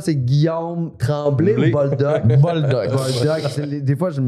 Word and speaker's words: Boldock: Boldoc. Boldoc. Des fois, je me mélange la Ben, prononciation.